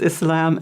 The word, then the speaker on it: Islam: we have so many different pronunciations, but the most correct is Islam and Muslim.